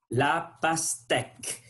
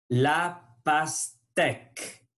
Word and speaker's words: la pastèque: La pastèque. Il faut tirer le lèvre pour prononcer le son E. La pastèque.